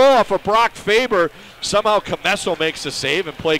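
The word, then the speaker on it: Commesso: I keep mispronouncing it, but it's Drew Camesso with the save and the cover.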